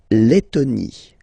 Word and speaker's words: Lettonie: La Lettonie. So remember when you get this E and then a double letter like that, T, okay, then you will have to open your E and it will become Lettonie.